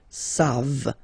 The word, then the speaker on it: savent: Here, classic ending for il and elle at the plural form, E-N-T. You don't pronounce it, so you get the sound savent.